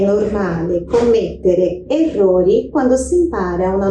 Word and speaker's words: commettere: Cometer, em italiano é commettere. Tá vendo que tem dois M's ali? É só dar uma forçadinha mais naquela pronúncia daquele M, ó. Commettere. Meio segundinho a mais na pronúncia.